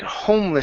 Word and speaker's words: homeless: So, you're starting off like this. You're saying ha harmless instead of ho. So, you need to go to an o sound. So, it's home. Home instead of h. Home. Homeless shelter.